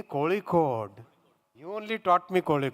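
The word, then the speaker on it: Kozhikode: pun vakar is part of calot District say k Cod you only taught me kic Cod why say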